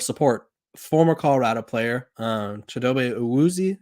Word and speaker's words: Awuzie: Okay, speaking of support, former Colorado player, Shedeur Awuzie, I believe is how you say it. I think John said it differently. And more Awuzie, yes, sir. Awuzie, thank you.